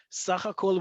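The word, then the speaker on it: סהכ: Sakh hakol will always, almost always, I think 99% of the time be abbreviated as samekh heh gershayim kaf and it stands for sakh hakol.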